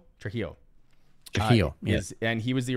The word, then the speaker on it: Trujillo: I can't pronounce his last name. Trujillo.